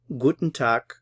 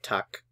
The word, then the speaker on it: Guten Tag: guten tack guten tuck Guten Tag or simply mini speakers would just say tuck tuck notice that the G sound at the end is kind of like an English K soundtak tuck good morning